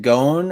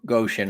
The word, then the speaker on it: Ghosn: You can either pronounce it Gon or Goshen, I think.